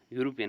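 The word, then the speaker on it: European: यूरोपियन लेकिन उसका जो बोलते हैं हम प्रोनाउंसिएशन आपका यूरोपियन हुआ है तो इसकी वजह से ए आर्टिकल यहां पे यूज़ होगा।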